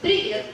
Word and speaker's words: привет: So it's just привет.